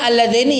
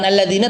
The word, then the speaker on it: Alladzaini: Alladzaini ya. Bukan alladzina tapi arinaladzaini.